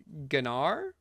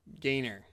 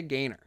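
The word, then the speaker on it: Gaynor: Okay, we're moving on to I am what I am by Gloria Gennar. Gar Gainer. Like the skateboarding trick, I believe it's pronounced. Okay. Gloria Gainor, who I'm sure any cultured person listening to this podcast knows.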